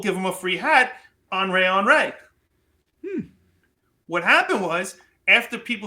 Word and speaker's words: Henri: There was a hat company called, I'm going to look at it to get it right, Henri. It's spelled Henry, but it's Henri.